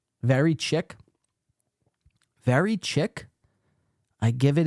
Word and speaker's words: chic: What does very chick mean? Very chicken? Do I look like a chicken? Is that what you're saying? LOL, chick? Very chick. It's pronounced chic.